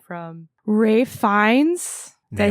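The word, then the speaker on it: Ralph Fiennes: Like the acting performances, like I said, from Ray Fines, did I say it right?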